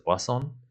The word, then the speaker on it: Poisson: La de Poisson, se escribe Poisson, pero se pronuncia Poisson, que se utiliza para simular los tiempos entre arribos.